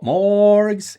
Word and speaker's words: Morgs: M-O, Morgs, and with a hard G. Not a soft one, just so there's no confusion.